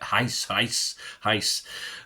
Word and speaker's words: Reis: I'm going to give it Heis. I know it's spelt Rice, but it's Heis, isn't it?